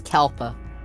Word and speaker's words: Kalpa: going through the first kepler or kalpa um is it is it yeah it might be kalpa i don't like that now i have to flip through the guide it's like have i been saying it wrong it wouldn't be the first thing they jump through this hole that takes us back it is kalpa alpa um but we